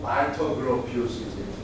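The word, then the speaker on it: 발터 그로피우스: 독일식 발음으로 하면 말터 그로피우스지.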